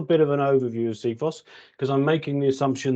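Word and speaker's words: CFIHOS: Handover specification and then when we tend to pronounce it seos uh there's lots of people some people will say sephos and other other pronunciations but but the term we use is seos and our main purpose is um is to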